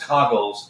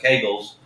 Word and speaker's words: Kegels: But I know it's not pronounced Coggles. It's pronounced Kegels.